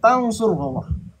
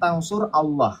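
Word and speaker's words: تنصروا الله: Itu kata Allah diikat dengan tansurullah. Makanya dibacanya tansurullah, bukan tansur Allah.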